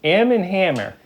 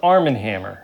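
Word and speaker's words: Arm & Hammer: a lot of things am and ham am am and Hammer arm no it's Arm and Hammer you said am nobody said I knew how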